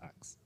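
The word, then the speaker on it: Axum: It's pronounced Axe.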